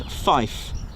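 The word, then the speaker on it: five: You'll also hear the number 3 pronounced as tree. All right, that again, and also number 9 as niner. Also 5 as fife.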